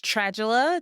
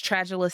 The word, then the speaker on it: Tragula: Again, my name is Tragula. The Trag is pronounced like the trage in tragedy. My name is Tragula.